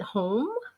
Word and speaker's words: HOM: so james is the author of do i pronounce at home yes yes that's how it's produced so home